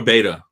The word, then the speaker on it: Beta: Beta or beta? Beta, like the Greek letter.